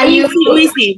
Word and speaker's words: UISI: Lalu ada Lecture in Indonesia, Lecture in Universitas Internasional Semen Indonesia atau yang kita tahu yang tulisannya UISI ya, dibacanya UISI, bacanya UISI saja.